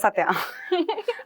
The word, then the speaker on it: Satya: That's Yes, it's Satya.